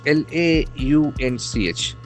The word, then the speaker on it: launch: It launch, L-A-U-N-C-H. We can see that A-U letter combination will give us O sound. Launch. Launch. It has a single syllable, launch.